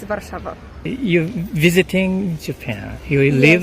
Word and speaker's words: Warszawa: In Polish or English? In English? In English, it's Warsaw. Warsaw? Yes. Oh, and in Polish, it's Warszawa.